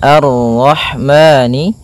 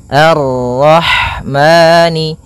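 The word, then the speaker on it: الرحمن: Kemudian pada lafal roh di sini ada huruf ha. Ha yang berharakat sukun. Dan sifat ha itu yang paling mencolok adalah sifat hamnya yaitu mengalirnya nafas ketika kita membacanya. Arrah arrah. Kemudian dan jangan sampai memantul haya.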